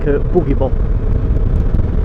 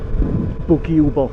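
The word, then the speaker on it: Buġibba: me and my girlfriend, we've always pronounced it like a boogie bop. But when my dad was telling me, he said, obviously depending on how you want to pronounce it, but he said, I think the correct pronunciation of it is actually Bugiuba or Bugiuba.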